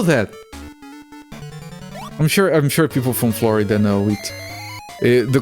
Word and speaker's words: Florida: I'm sure people from Florida know it. The correct pronunciation is Florida. As in Terra Florida, or Land of Flowers.